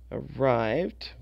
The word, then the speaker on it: arrived: at the end arrived arrived wanted decided so arrived sounds like a d wanted that's the T